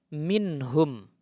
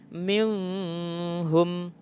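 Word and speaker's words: مِنْهُمْ: ini sebagai contoh nah cara membacanya jelas nah minhum tidak boleh cara membacanya mimmmm home tapi minhum ini biasanya terdapat dalam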